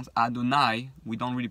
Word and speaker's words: Adonai: So, one of the highest names that is used is Yud Kei Vav Kei, which is the name we pronounce Adonai.